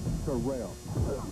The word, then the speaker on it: Terrell: And it's pronounced Terrell. Terrell Davis joins an all-pro lineup on NFL Total Access.